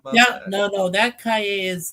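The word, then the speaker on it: Calle: Oh, by the way, he also says, uh, Sasha Cali, I think that's how you say it, over Millie Elco. Oh, you mean Sasha Cay? Yeah. K. Cay. Cayey like a street.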